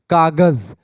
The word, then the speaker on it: कागज़: बना लेते जैसे कि कागज अब कागज में यहां पर ज के नीचे बिंदी रहनी चाहिए ठीक है ज अब इसको हम पढ़ते कैसे कागज़ लेकिन पढ़ना कैसे चाहिए कागज़ ठीक है ऐसे लिखा होता